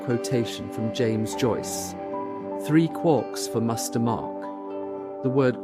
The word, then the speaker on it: quark: of a T but is usually pronounced to rhyme with lark.